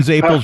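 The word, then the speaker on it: zeppole: I I call them Zapels because that's how they pronounce it in Rhode Island.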